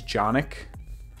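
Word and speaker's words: Jonic: um my name is johnic uh J jic is a kind of different name it rhymes with Sonic and it starts with a Jay that's how I explain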